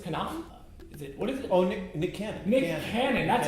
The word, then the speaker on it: Nick Cannon: Oh, Nick Cannon. Nick Cannon. That's how you pronounce it.